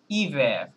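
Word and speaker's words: hiver: মনে করেন আমরা যদি আমরা যেটা বলছি যে h এর আসলে প্রোনান্সিয়েশন এখানে সাইলেন্ট হ্যাঁ তাহলে আমরা i থেকে প্রোনান্সিয়েশন করলে কি হবে ইভার বলেন ইভার ইভার ইয়েস ইভার ওকে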